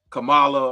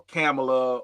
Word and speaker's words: Kamala: pronounce it, like Kamala, like with the C-O-M, like a calm, you know what I mean?